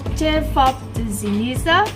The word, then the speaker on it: Ćevapi: It's called Ćevapi. How do you pronounce it?